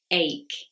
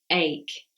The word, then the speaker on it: ache: word is ache ache you have a stomachache not a stomach catch or a stomach capture it is ache now this is a silent h and CH can actually be said as a K sound for example archaeology architecture